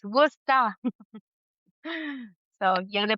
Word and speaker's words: Worcester: And I was like, "No, it's Worcester." So, yeah, the pronunciation. Yeah. It's one of the silliest spelled words in English, honestly. Like, what is the C and the E doing there?